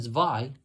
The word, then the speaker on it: Zwei: 2 copies of Cyber Dragon Zwei, and yes, I said it with pronounced the W as a V since it's basically German.